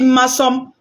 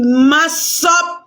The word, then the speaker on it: Massop: Massom, ce n'est pas mon nom. Donc, si tu es une guerrière robuste, il faut dire Massop. Mon nom, c'est Massop.